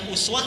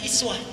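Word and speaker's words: أسوة: kita bacanya Uswah tapi kalimat itu bisa dibaca dengan dua kata bisa dengan Uswah bisa dengan iswah J kalau kita baca riwayat qolun riwayat hafz eh hafz membaca dengan Uswah riwayat qolun dan warasy membaca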